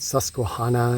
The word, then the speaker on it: Susquehanna: It's called Susquehanna, is how it's pronounced, Susquehanna Herbs.